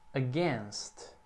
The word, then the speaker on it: against: E como a sílaba tônica é a segunda, então o A ali é bem curtinho mesmo.